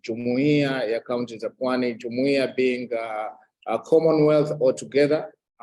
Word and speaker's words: Jumuiya Kaunti Pwani: That's how it's pronounced, Jumuiya Kaunti Pwani.